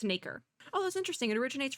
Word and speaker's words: nacre: It literally says mother of pearl, and it is pronounced Nacre, because I thought it was Nacre, but it's Nacre.